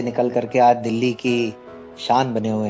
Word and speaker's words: Kaish: तो थोड़ा जो स्पेलिंग जो है वो KAISH मेरा है, और जो जी। मीनिंग भी अलग है, और वो वहाँ पे जो है का वो जो पैसों का है वो अलग। वहां पे आई नहीं होता है। हाँ, तो सुनने में थोड़ा सा उच्चारण में लग रहा है वैसा।